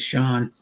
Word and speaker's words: Sean: and sean yeah sean sean is not cnn because everybody called himself yeah yeah because that's how it looks like it'd be pronounced but yeah that's not how we uh in the history of words sean i think that they pronounced it always sean yeah for the name